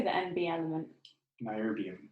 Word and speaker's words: niobium: Niobium. Niobium.